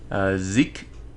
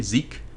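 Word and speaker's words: Xizk: do is talk to Zeke. I guess that's how you pronounce that. X-I-Z-K. Zeke. That's what I would say.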